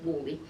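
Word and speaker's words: Whalley: examples of these is a um up in Wally in Lancashire and you spell that w-h-a-l-e-y that the locals trained me very hard until I can get the bowel exactly right so it's pronounced wooly and they're putting an Archimedes screw beside the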